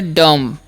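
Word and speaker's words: dumb: dwarf ठीक है ड इसे पढ़ेंगे डम क्या पढ़ना है डम यानी कि बी साइलेंट होता है अब इस सी का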